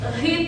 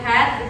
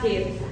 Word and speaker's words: heat: Kemudian seperti heat, kalian bilang head, itu harusnya bacanya heat.